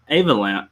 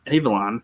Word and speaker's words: Avalon: man well uh yeah check out uh arwin avalanche avalon uh irwin i've got him i'm getting it mixed up now i pronounced it right earlier i want avalon for